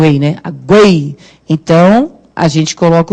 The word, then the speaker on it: aguei: Aguei as plantas, por exemplo. Então, esse U tem som, não tem? Aguei. Então, e o que é forte? É o U ou EI? É o EI, né? Aguei.